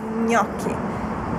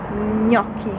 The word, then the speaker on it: gnocchi: fare gli gnocchi gli gnocchi most difficult italian word to pronounce Ever gnocchi it Has the sound gn G gnocchi You can find a